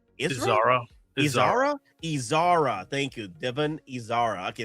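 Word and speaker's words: Izara: How do you pronounce her name? Isra. Thank you. Devon Isara. Okay, that's so much better. Thank you. Uh, Eko Dodaki. That's her master. Isara. Isara.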